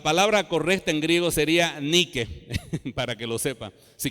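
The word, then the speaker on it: νίκη: única o viene de una forma que se pronuncia así n y acá es que he dicho ni que que significa victoria le resulta conocida esa palabra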